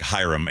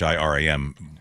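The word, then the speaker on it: Hiram: It looks looked like Hyram. H I R A M but it was pronounced Iram and his last name was Bokh Chica.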